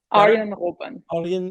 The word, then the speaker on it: Arjen Robben: Arjen Robben. Yeah, that's better. All right, much better. You know what?